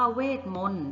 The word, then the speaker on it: เวทมนตร์: ออก เสียง นะ คะ คำ ว่า เวทมนตร์ นะ คะ ตอเต่า เรา ก็ จะ งด ออก เสียง นะ คะ แนว คิด